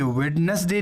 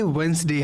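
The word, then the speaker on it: Wednesday: तो यहाँ पे जैसे देखिए वेडनेसडे नहीं है, ये वेंसडे हमने पढ़ा था।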